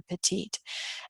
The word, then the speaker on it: petit: the word small or petite. And in English, we don't pronounce it the French way, we just pronounce it petit.